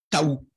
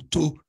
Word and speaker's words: Tau: Ça se prononce le Taou, hein, Taou, hein, ou Tau.